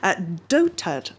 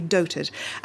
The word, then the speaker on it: dotard: Dotard or Dotard, I believe it's supposed to be doted, is the word that Kim Jong-un's statement in English referred to Donald Trump as being.